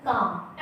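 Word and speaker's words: calm: होता क्या होता है काम एल काम डाउन जैसे पाम पी ए एल एम होती है लेकिन हम क्या करते हैं इसम पाल्म नहीं बोलते क्या बोलते हैं पाम ठीक है तो इसी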